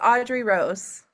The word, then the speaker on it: Audrey Rose: It's Audrey Rose. I'm right. Yep. Okay, wait a minute. So we have with us straight from where? California. Yeah. Yeah, Audrey Rose.